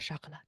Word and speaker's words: Chocolat: sh chocolot um and you have to say it like that chocolot I love chocolate anyway